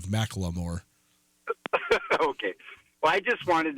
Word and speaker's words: Macklemore: He says Macklemore instead of Macklemore.